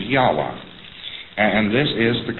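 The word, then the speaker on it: Yahweh: is to be pronounced but more agreed upon pronunciation among Scholars so they can talk about it is yahwa and and this is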